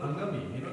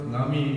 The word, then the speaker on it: Angami: So they, change Angamai to Angami. Ngami, because they could not pronounce Ngami, they put A and call them Angami.